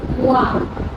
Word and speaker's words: one: Letter is vowel. But sound is consonant. Just like its pronunciation is wa.